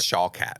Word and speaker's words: Shawkat: I think it's just Shawkat. Shawkat? Yeah, just do it phonetically.